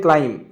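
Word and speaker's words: climb: form that क्लाइम ने B silent letter ए उच्चारण क्लाइम क्लाइम all over all over माने सर्वांग बा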